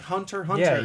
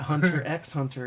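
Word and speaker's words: Hunter × Hunter: sure yeah yes don't do it just like hunter hunter don't pronounce it it's not hunter x hunter it's just hunter hunter uh specifically it's in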